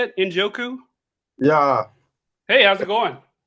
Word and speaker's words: Njoku: Injoku.